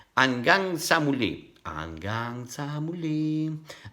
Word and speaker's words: hanggang: song, hanggang sa muli, hanggang, this again, you will never pronounce like Italian, hanggang, no, hanggang, hanggang sa muli.